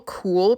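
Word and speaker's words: KÜHL: Might be a fashion sweatshirt, I don't know, but Cool is a really great brand. Here is the way that it's spelled, KUHL.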